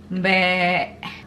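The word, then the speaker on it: mbek: In Indonesian is be. M-B-E-K. Be. Be. Bah. We don't pronounce the K. K is silent.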